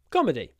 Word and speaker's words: comedy: I prefer to watch Comedy uh comedy stress on the first syllable comedy open your mouth